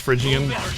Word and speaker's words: Phrygian: of the master the window side power pronounced Phrygian for a guy I'm gonna thank you